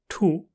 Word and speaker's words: 吐: Furthermore, we use our mouths to yao, to bite, tu, to spit, or when pronounced with the fourth tone, tu, it means to vomit.